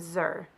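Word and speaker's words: xyr: have instituted gender-neutral pronouns pronounced Z ZEM and Zer spelled x-e-x-e-m and x y r these pronouns are encouraged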